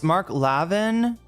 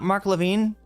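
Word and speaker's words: Mark Levin: It's Mark Lavin. Wait, it's not Mark Lavine.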